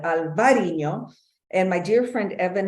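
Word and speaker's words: Albariño: will talk about it this is indeed Albarino but in this case we're going to call it alvarino and my dear friend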